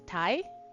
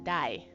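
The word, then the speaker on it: 大: You can either read it as tai or you can read it as dai.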